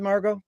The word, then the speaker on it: Margaux: Frank and is that the correct way to pronounce it Margo yes thank you thank you so much for